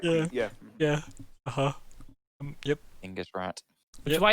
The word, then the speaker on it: Genghis: my instincts are to say Genghis, right? And I'm like, I feel like those are wrong. So Yeah, I think we grew up with a poor Western Yeah. pronunciation. I thought it was more like Chinggis. So yeah, like it very possibly could might be.